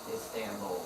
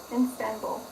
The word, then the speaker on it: Istanbul: Istanbul. Istanbul. Instanbul.